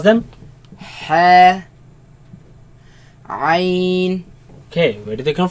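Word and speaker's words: ع: Let's pronounce them. Ha, Ain.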